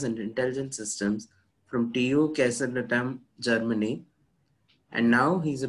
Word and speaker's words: Kaiserslautern: So, just to clarify it, it's pronounced Kaiserslautern.